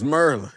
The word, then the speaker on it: Maryland: Say Maryland. It's Merlin.